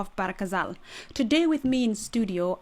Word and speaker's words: Ghazal: So the proper way of pronouncing it is not Ba El Ghazal; it's actually GHAZAL.